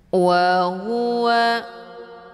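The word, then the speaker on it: وَهُوَ: Wa huwa, nah hu ini dia letak posisinya keluarnya dari tenggorokan bawah. Jadi hurufnya jelas dan cara bacanya ditekan. Wa huwa, jangan dibaca wa huwa, wa huwa, nggak ditekan. Jadi nampak bunyinya juga waw yang keluar, ya. Jadi mesti ditekan dia.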